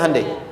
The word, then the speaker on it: Hyundai: di sana bikin Honda sini hundai Hyundai kan dibacanya hundai ya kan sana Honda